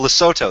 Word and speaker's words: Lesotho: And Oh, Lesotho, that's how you pronounce it.